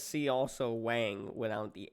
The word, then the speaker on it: Whang: I mean, I knew it was Wang when Yeah, I saw it because I wouldn't pronounce it Wong or anything like that. yeah. Oh, Yeah. really? I think that's how it's supposed to be pronounced. I've just been calling it Wang my whole life, so it's just how it is.